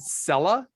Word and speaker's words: Selah: seconds or less ago i said sella yeah and you said that's the hebrew pronunciation of your name yeah it sounded that's